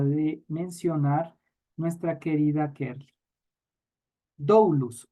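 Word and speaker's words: δοῦλος: mencionar nuestra querida kerly dulus o dulos que sería en una pronunciación más asertiva dulos que es esclavo pero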